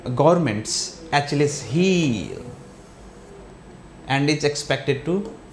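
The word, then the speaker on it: Achilles: इसको ऐसे ही प्रोनाउंसिएट करते हैं, एच-लेस हील।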